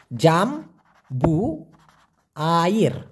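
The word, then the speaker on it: jambu air: ঠিক এরকম আর একটা ফলের নাম আছে, সেটা হলো জাম্বু আইর, জাম্বু আইর, উচ্চারণটা হবে জাম্বু।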